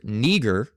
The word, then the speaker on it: Niger: So now, if you go to look at this word neager, that's how it's pronounced.